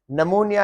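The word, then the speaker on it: pneumonia: नमोनिया है, ये जो लंग्स की बीमारी होती है, इसमें पी है, राइटिंग में तो है लेकिन इसमें प्रोनाउंस नहीं होगा।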